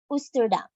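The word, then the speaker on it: Oosterdam: Dutch translation for Eastern compass point and is pronounced as ustuda next we have Western it has 1964 guests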